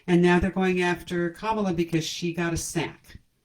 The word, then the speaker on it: Kamala: say ta-da at last her name we're learning to pronounce now it's comma not that hard you write